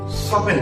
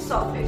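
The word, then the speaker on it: soften: টি সফট ই এন সফটেন উচ্চারণ হওয়া ছিল সফটেন কিন্তু যেহেতু টি টা সাইলেন্ট থাকবে সেজন্য এখানে উচ্চারণটা হচ্ছে সফেন সফেন কথার অর্থ হচ্ছে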